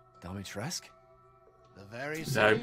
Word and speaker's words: Dimitrescu: Well, it should be pronounced Dimitrescu.